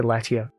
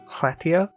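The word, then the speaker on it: Lletya: I'm guessing most people say Letia, but it's like Hletia, Prifdinus, Tiras Camp, and Zul Andra.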